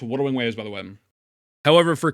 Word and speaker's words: Wuthering Waves: It's pronounced Wuthering Waves, by the way.